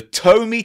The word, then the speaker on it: Tomy: We said Tomy, not Tony. It's pronounced Tomy.